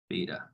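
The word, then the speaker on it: β: So this symbol here is pronounced beta.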